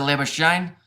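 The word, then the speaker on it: Labuschagne: In cricket, they pronounce it Labashane.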